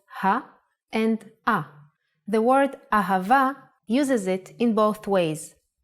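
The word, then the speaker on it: אהבה: Ahava is love in Hebrew. Let's try to write it down. Ah, pronounced Ha.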